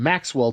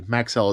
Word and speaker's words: Maxell: butter next up are some Maxwell tapes and our Maxell actually Maxell is how they're pronounced uh thank you again